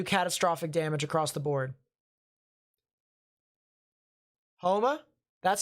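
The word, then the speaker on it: Houma: could still do catastrophic damage across the board homa that's how it's pronounced well i apologize i apologize as i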